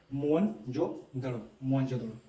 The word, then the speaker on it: मोहनजोदड़ो: मोहनजोदड़ो शब्द का सही उच्चारण है मोहनजोदड़ो।